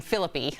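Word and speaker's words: Phillippe: Also, it's Ryan Philippi. I don't know why I mispronounced it.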